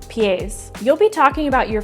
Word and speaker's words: pies: So this is kind of spelled like pie in English. So maybe a fun way to remember this is that on each foot you have 2 pies, but it's pronounced pies.